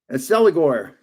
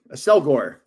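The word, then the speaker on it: Accelgor: Aseligore. Aselgore. Don't add another syllable in there.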